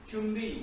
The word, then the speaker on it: jumbi: Chumbi, again we write it as Jumbi, Jumbi, and Sugi stance.